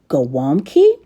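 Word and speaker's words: gołąbki: cabbage rolls which is a Polish dish normally pronounced goami anyway we're going to get started on it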